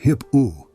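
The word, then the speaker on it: HIPAA: There's a law called HIPPO, pronounced HIPPO, that protects your personal health information.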